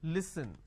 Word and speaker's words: listen: Now the listen word pronounced as l, e, s, li. So let me add a dash after that so that it's easier for you to understand. Okay, it's pronounced as li, s, n. Listen.